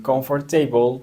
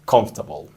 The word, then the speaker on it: comfortable: que es la palabra comfortable muchas personas dicen comfortable pero no su pronunciación es comfortable otra palabra es esta de acá que significa